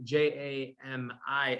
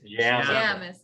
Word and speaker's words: Jamison: No, so it's Jamison, Jamison. So the listeners don't Google Jameson at JAMES. And end up with End up Yes, with yeah, whiskey, I was corrected many